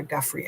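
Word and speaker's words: Giuffre: like when he was talking about um Virginia Goofrey Guffrey, Virginia Guffrey I think is the right way to say it and he was talking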